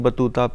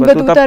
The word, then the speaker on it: Battuta: Because I needed to use shoes, you know, because in Hindi, Ibn Battuta rhymes pehan ke with, juta. yeah, it rhymes with shoes.